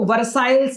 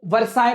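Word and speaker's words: Versailles: तो इसका जो प्रोनाउंसिएशन है इसको वर्साइल्स नहीं पढ़ेंगे। इसको वर्साय पढ़ेंगे। Because it इज़ a French word.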